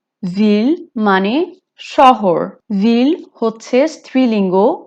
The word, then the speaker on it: ville: ফ্রেঞ্চে একটা রুল আছে যে এল এল থাকলে অনেক সময় সেটার প্রোনাউন্সিয়েশন ওয়াই হয়ে যায়, কিন্তু ভিলের মধ্যে সেটা হবে না। সো ভিলের মধ্যে এলটা আপনি প্রোনাউন্স করবেন, সো এটা হবে une ville।